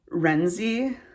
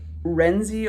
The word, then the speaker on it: Renczi: about vera i think her last name is pronounced renzi uh i could be slightly wrong about that uh it's r-e-n-c-z-i uh so it's either like renzi or ring i i don't know